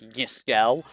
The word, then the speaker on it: Yiskel: Gloom, by the way, Chaos's real name is Yiskel. That's how you're supposed to pronounce it, is Yiskel.